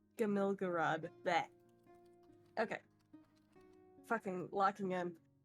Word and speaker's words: Gamilgaraad: city- How do you pronounce the city's name again? Gamilgarad. Gamilgarad.